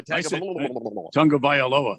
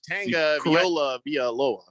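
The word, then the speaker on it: Tagovailoa: Tua Tanga Tunga Vailoa. Yeah, it's not Tanga Viola Villoa.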